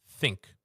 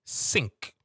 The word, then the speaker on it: think: that's a common one which most people have an issue with the word think. Um they usually say the word sink.